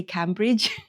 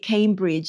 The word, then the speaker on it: Cambridge: saying the word because when I see the name, I want to say Cambridge. It's apparently wrong. So I'm going to try to say it Cambridge. It just is not a natural type of pronunciation for me to say it like that, but I think that's how it's said, like Cambridge.